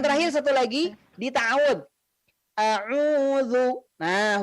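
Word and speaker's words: أعوذ: A'udzu. Nah, huruf dzal ya, a'udzu pengucapannya adalah ujung lidah menempel dengan ujung gigi seri atas.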